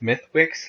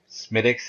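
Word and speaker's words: Smithwick's: I've heard it pronounced Smithwicks, like it actually looks like it reads. But I hear Smithwicks is what it's supposed to be.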